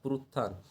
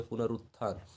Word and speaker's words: पुनरुत्थान: भारतीय समाज का पुरुत्थान, पुरुत्थान किस तरीके से लिखते हैं, तो पुरुत्थान, पुनरुत्थान नहीं होता था, पुनरुत्थान इस तरीके से, सही उच्चारण इसका ये हो गया पुनरुत्थान, ठीक है।